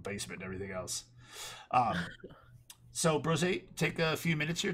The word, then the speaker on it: Brose: It's pronounced Brose. It's like Jose with a BR, But other than that, I am a Twitch streamer.